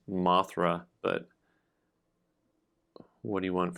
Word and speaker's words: Mothra: And of course, I added an extra syllable in there because it's not Mothra, it's Mothra.